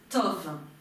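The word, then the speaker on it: טוב: Vous reconnaissez le tête que nous venons de voir, le vav qui se prononce ici haut, et le veit, tov.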